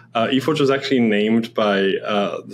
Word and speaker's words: eFORGE: Now, do you pronounce it eFORGE and FORGE2? Yeah, eFORGE.